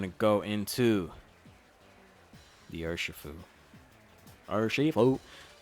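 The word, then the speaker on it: Urushifu: Urishifu. Very strange way to say it. Urishifu. Okay, cool. There you go. That's how you say it.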